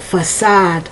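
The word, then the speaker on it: façade: But the little S, and that tells you how to pronounce that C with a S sound. Facade, no?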